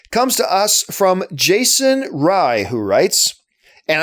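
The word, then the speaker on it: Fey: Now, the final question of the day comes to us from Jason Rye, who writes, and I know it's spelled F-E-Y, but he specifically told me it's pronounced Rye.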